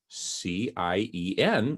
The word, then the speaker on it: cien: intentional in las nouves c-i-e-n which spells the word cn which means 100 in spanish and it's just a very nice word cien it's one syllable now one of the